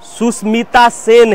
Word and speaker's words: सुष्मिता सेन: पास सुष्मिता सुसेन सुष्मिता पत फिर से करेक्ट प्रोनाउंसिएशन सुष्मिता सेन है सी इज अ बट